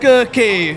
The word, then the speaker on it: Kaye: Well, I just wanted to make sure I got the pronunciation right. It's Kaye, right?